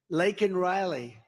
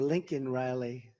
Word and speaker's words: Laken Riley: Laken Riley. And, you know, Biden was unable to pronounce her name, called her Lincoln Riley.